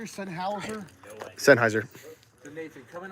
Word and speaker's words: Sennheiser: Sennheiser? Sennhauser?